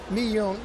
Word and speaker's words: Miyun: You say Miyun. How do you say the product? Miyun.